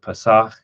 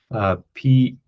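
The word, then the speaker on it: פסח: It's a translation from a Hebrew word Pesach, Pesach. If you were to transliterate it, Pesach with a ch sound at the end.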